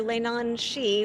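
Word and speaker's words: leannan sidhe: I've got music up on band camp under Lane on XI which is Gaelic it sounds exactly like it's spelled uh but for those who don't speak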